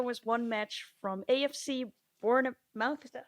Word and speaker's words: Bournemouth: And then speaking of the FA Cup, so there was one match from AFC Bournemouth. Is that how you say it? Bournemouth, yeah.